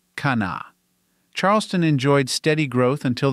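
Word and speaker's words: Kanawha: moved into the area the first H sound in the name was dropped now it is just pronounced Kana Charleston enjoyed steady growth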